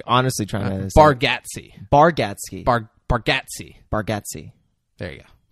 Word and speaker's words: Bargatze: Garbatsky? Yeah. Was that? Did you Did you intentionally mispronounce it or? No, I was like honestly trying to. Bargatze.